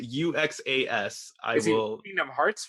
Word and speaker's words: Uxas: Darkseid's real name was Uxas, I believe is how you pronounce it. Uxas.